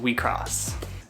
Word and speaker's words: WIXOSS: upcoming tcg that i'm really excited about called we cross it is pronounced like this but it's spelled like this